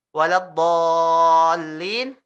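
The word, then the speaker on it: ولا الضالين: Waladhdallin, ini 6 harokat kamu harus bacanya. Jadi panjang sekali. Waladdall gitu ya. 6 harokat kamu bacanya ya. Jadi 3 kali bolak-balik ya. Maksudnya 1 2 3 4 5 6 gitu ya. Waladdall 1 2 3 4 5 6 lin gitu ya.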